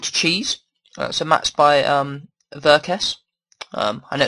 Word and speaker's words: Verques: So, matched by um Veress. Um I know it's pronounced that way cuz it's like EverQuest but without the E and the T because he was a big fan of that.